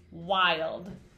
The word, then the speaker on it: wild: So when we say it, we have to make sure we say the I, okay? So, ooh-I-old, ooh-I-old, wild. That syllable, wild.